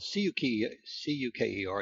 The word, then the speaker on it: Cuker: It's spelled C-U-K-E-R, and he pronounced it Cuker because of its derivation from Europe, and it stands for sugar.